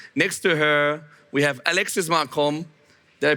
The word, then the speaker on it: Alexis Marcombe: Next to her, we have Alexis Marcombe. Did I pronounce that well, more or less?